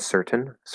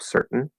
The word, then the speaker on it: certain: Notice, by the way, really quick, I just said certain with a pushed out T. Normally it's a glottal stop, certain, with a syllabic N.